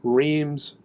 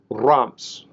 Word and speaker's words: Reims: name in the U.S., we typically pronounce it Reims, and I guess that really bugs Europeans. But we in the U.S. bug Europeans a lot, don't we? um, I can't pronounce it properly, but the pronunciation should be closer to Ramps. And no, you shouldn't trill the R. It's more of a growl.